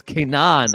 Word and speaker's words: Kaynan: said your name is Canaan I I asked if it was Kanan you said yes no I look stupid yes I pronounce it like you know like Hebrew in a way but like I don't